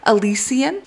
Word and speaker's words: Elysian: she's written her first book and it is pronounced Elysian so she has written a book called the